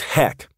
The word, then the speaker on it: HEC: energy and Cravings or what I call HEC pronounced HEC dieting causes heck to go out of